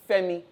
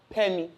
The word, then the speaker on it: Femi: First of all, I'd like to tell you that my name is Femi, not Pemi.